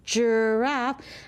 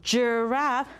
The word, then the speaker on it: giraffe: This word says giraffe, and guess what? Giraffe has the juh sound.